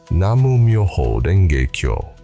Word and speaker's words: Namu Myoho Renge Kyo: We use the original pronunciation, Namu Myoho Renge Kyo. The U carries a grounding frequency.